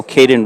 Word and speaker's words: Caden: My son's name is Caden, but we spell it C-A-Y-D-E-N, and Caden Richards spells his name C-A-D-E-N, so I keep thinking Cade instead of Caden.